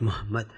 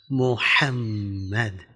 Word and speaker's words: Muhammad: They say Muhammad. It is not Muhammad, Muhammad.